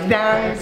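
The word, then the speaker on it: Gdańsk: Et comment prononcer Gdansk? Gdansk.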